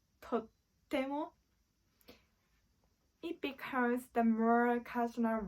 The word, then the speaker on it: とっても: For example, とても美味しいです。とてもお綺麗ですね。But if you pronounce とっても, it becomes the more casual way to say, and it will have an emphatic meaning.